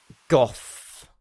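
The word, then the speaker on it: Gough: Goth is his pronunciation, is his name.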